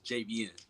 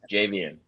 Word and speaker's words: Javian: Um, and my name, I'm sorry, by the way, my name is JVN. That's how you pronounce it. JVM. JV. Javian.